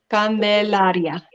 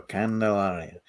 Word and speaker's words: Candelaria: says candelaria but i've heard you kind of pronounce it a little bit different right or is it say it one more time candelaria okay there you go candelaria but once again guys uh we absolutely appreciate